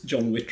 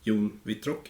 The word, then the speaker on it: Jon Wittrock: John M yep so my name is John wit if you want to go with the English pronunciation or Yun VR in Swedish and I'm a lecturer